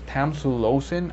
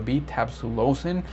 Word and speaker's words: tamsulosin: both by the way i did not know it was tamsulosin i thought it was tab with the b-tap solosin i've been saying it wrong all this time but